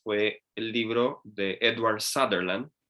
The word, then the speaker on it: Sutherland: El segundo libro que leí fue el libro de Edward Sutherland, o Sutherland, como se pronunciaría en español, que él fue el fundador de la escuela de Madison.